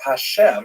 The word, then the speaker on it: Hashem: And the word Hashem, of course, is pronounced with the letter H, but there is no letter H in the Russian alphabet.